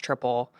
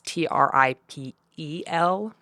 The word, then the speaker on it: Tripel: little weird um it's t r i p e l we just pronounce it like triple not tripel yeah but you know